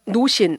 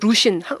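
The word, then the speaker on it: 루쉰: 케테 콜비츠와 노신, 우리는 20세기에는 노신이라고 했는데 요즘에는 루신, 중국어로 루신이라고 발음을 하더라고요.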